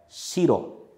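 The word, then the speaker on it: 白: Só que a pronúncia dessa palavra é shiro, shiro.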